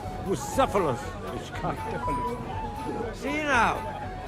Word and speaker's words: Bucephalus: What kind of name is Bruce Phallus, anyway? It's pronounced Bucephalus, which kind of...